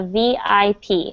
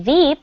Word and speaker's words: VIP: said a veep but you actually should say a vip and say each letter individually and so vip do you know what that stands for and very important exactly so you have to pronounce vip because when you say veep that is that does mean something in english but veep means the vice president the vice president of